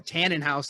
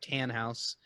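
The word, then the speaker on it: Tannhaus: house wrong he says you call a Tanenhaus like Biff Tannen but it's just tan house so yes the two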